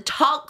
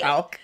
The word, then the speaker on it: talc: So check out the talk free. Am I saying it right? Talc.